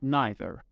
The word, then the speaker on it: neither: The last two words you can pronounce as either and neither. There is no difference, so all these three words are used to talk about two things or people.